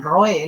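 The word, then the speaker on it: רֹאֶה: En cambio, los verdaderos profetas, cuando recibían la revelación de Dios, es decir, el roé, que se pronuncia en hebreo, el roé, la voluntad, la revelación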